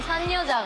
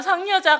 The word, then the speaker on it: 상여자: 진짜 산 여자 같아. 진짜 상여자 같애라고 하는데 진짜 산여자 같애라고 발음하죠. 이것도 이제 이응하고 니은하고 받침 발음이 조금 헷갈리는 경우다라고 볼 수 있고요.